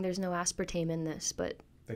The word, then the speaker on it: aspartame: Aspartame. I don't know how to say it. You were saying aspartame. Yeah, but I'm English. It's aspartame.